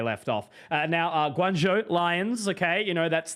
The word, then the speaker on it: Guangzhou: effectively where they left off uh now uh Guangzhou Lions okay you know that's the correct pronunciation that's who we're going to walk through